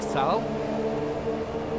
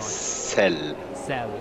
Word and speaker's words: Sel: We know him as Ludwig Sal. I did pronounce that right, didn't I? Sel. That's the right way.